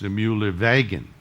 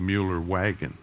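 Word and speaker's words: Meillerwagen: my good German friends I have to remember to pronounce W's as V's right so this is mu live aegon not the Mueller wagon launcher it carried it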